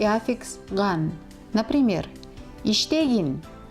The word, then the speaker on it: иштегин: Please note, suffixes in the imperative mood, as an exception, are unstressed. This means, in their pronunciation, we should put the stress on the previous syllable, not on them.